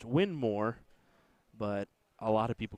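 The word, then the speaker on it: Winmau: name first name and his last name was win more so it's actually supposed to be pronounced win more but a lot of people call it windmow because of the spelling so there's a truth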